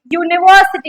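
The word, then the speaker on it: university: यूनिवर्सिटी क्या बोल रहे हैं हम? यू। य का साउंड आ रहा है। क्या आ रहा है? यू या फिर य आ रहा है। यू साउंड आ रहा है। यूनिवर्सिटी तो ये क्या हो गया? कसोनेंट साउंड है।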